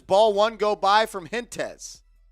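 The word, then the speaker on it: Hentges: It's at the dish, and he watches ball one go by from Hintez. I think it's Hintez, if I'm saying his name wrong. No way it's Hint-Jez.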